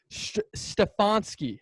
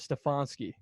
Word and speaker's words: Stefanski: pronounce his last name stefanski i think it's how you pronounce it stefanski well he's not beating